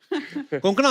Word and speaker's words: कोंकणा: हमारे पर मुझे लगता है कोंकणा, आपको जब अलग अलग स्टेट के लोग मिलते हैं तो वो आपका नाम सही से प्रोनाउंस करते हैं। आई एम श्योर अगर आपको कोई पंजाबी मिले, वो हमेशा कंकना बोलेगा।